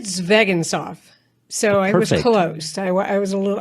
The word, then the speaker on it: Zvegintzov: first uh but it's zagan sof uh it's just like a spelled I tell people that and they don't believe me I think I said zagan sof so I was close